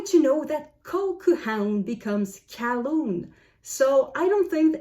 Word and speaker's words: Colquhoun: wanted to talk to somebody named Colquhound. Or perhaps there was no D at the end, but something like Colquhound. And then the pedantic owner says, it's Calhoun.